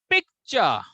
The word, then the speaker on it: picture: Now, so there are 2 syllables. Picture, picture, picture, picture. Now, Poonam, can you tell me in which syllable? Pic is a 1 syllable, chur is a 1 syllable. In which syllable you have to put more stress?